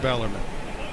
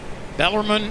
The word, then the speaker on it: Bellarmine: louisville family went there it's pronounced bellarmine bellarmine it is forever we need to get